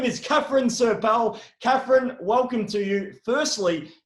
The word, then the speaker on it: Serpell: for having me um i pronounce it sir paul but no judgment to any other variations of that pronunciation there you go isn't